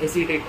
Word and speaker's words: acetate: बहुत लोग एक्टेट बोलते हैं बट प्रोनाउंसिएशन इज सेलुलोइस एसीटेट।